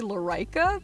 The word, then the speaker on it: Lorica: spoke living correct yeah if there are any proper latin people out there i think the crud pronunciation might be larica but i do not know enough and i've said it this way for so long that it's lorca i'm sorry but yeah thank